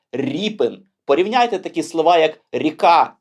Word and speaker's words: Ріпин: Ось так через 5 і російською мовою природно читається як Рєпін а от українською ви не повіте ріпин порівняйте такі слова як